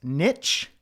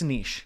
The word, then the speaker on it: niche: Now, you might have heard it pronounced niche, but I can't do it. I can't call it niche. It's not spelt niche. Therefore, it's not pronounced niche. Might be because I'm Canadian and we have, I don't know, a French background. I just know it's niche.